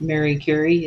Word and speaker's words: Curie: coined the term radioactivity it's Mary Curie Curry it's Mercury if you say it right it's Marie Curie it's Mercury Mary Carey